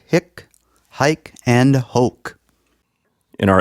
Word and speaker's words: hic: vowels really matter because there's another Latin word, hic, with a long I that actually means right here. And you don't want to say hic when you mean hic.